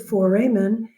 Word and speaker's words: foramen: is called the obturator foramen. That reminds me that I should tell you that this word foramen, F-O-R-A-M-A-N, some people pronounce it foramen. I have no problem with that.